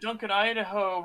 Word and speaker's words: Duncan Idaho: I know that Duncan Idaho rhymes with he's a hoe, so we should all laugh at that.